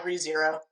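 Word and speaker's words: Re:Zero: how to say this is it rezero R zero yeah rezero all right and you said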